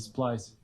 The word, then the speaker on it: Splyce: How do you spell it? SPLYC. I'll let George say it because SPLYCE. Splice.